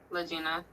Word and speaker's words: Lagena: refer to you as Miss Latina am I pronouncing your name correctly yep lagina okay now I have several questions that I